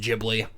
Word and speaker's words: Ghibli: that it was pronounced Gibli because Gibli is based off of an Italian word.